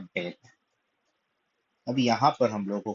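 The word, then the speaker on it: בּ: सो Beth basically एक बहुत ही common शब्द है यहूदी लोगों के लिए इब्रानी भाषा में।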